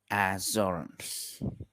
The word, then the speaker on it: Azores: Azores. Not jo. Don't say jo. You say yo.